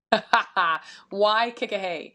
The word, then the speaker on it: Waikikahei: So it's kind of like a play on that. So it's Mm. Waikikahei, but it's spelled Hei.